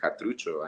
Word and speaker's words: Xatrucho: general's name was satruj how can I keep the X but instead of pronounce it what I can x i pronounce it like a c or a k sound and anytime that uh